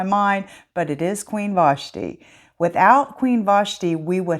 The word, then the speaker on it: Vashti: today is queen vashti better known as queen vachetti no i'm just kidding that is a nickname that i was having trouble pronouncing her name and that's what kept coming to my mind but it is queen vashti without queen vashti we would have never had